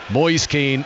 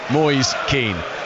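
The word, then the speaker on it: Moise Kean: Akeem up front and by the way that is the pronunciation we have checked with the man himself boys keen to think David Boies and think Michael Caine that's America boys keen despite the various more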